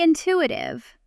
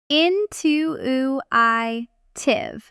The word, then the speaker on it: intuitive: Really intuitive. An intuitive design. You notice the pronunciation carefully here. Into iitive. Many learners stress the wrong syllable putting weight on instead of to you.